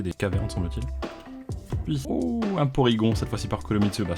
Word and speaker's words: Porygon: Et normalement ça doit se prononcer Polygon si je dis pas de conneries, parce que c'est Polygone tout simplement en japonais.